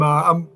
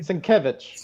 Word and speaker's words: Sienkiewicz: Sinkovich. Sinkovich. How do you guys always pronounce his name properly? Sienkiewicz. Sienkiewicz. Thank you. Yeah. I always say it wrong. I have the wrong emphasis on the wrong syllable.